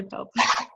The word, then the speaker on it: Pope: I say to people, I'm like, hi, I'm Pope. And they're like, no, you're not. I'm like, I mean Pop, but it's really Pope.